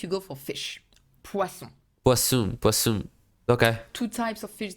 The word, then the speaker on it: poisson: Or du poisson. Du poisson. Very careful with the pronunciation of poisson. Poisson. Pois, open, s, the snake sound. S. Nasal sound. Un. Not poison.